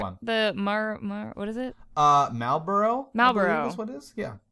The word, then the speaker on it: Malboro: Malboro. That's what it is? Yeah. It's not Marlboro. It's not cigarettes.